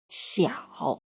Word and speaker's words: 小: The pinyin of the character 小 follows the third tone, so it pronounces as xi, i, ao, 小.